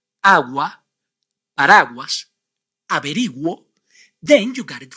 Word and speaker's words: agua: the first one is agua and the second one Guerra agua Guerra but why why you must pronounce the vowel u in the first word but you must not